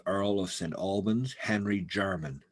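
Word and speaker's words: Jermyn: who's the first earl of saint albans henry german spelled j-e-r-m-y-n uh so the german street and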